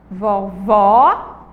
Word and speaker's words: vovó: o som Vejam Só vamos lá falar palavra vovó vovó o outro aberto e vô vô vô escuta o som do ó ele deu uma fechadinho ó vovó vovô tem um som aí mais fechado certo